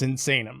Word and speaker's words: Sinsaen: saying that right it's not it's insane it's insane okay awesome i'm glad i'm saying it right it's insane and i forget what it was it was